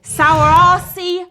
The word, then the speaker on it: Saoirse: now I'm about to butcher this name though sour RC Ronan so it's spelled Saoirse Ronan is who we're talking about